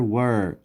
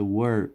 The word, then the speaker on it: were: و یاد داشته باشین که بیشتر از دانش آموزان اینی کلمه را نیز مثل where تلفظ میکنن. Where were. We were به شکل were باید تلفظ شود.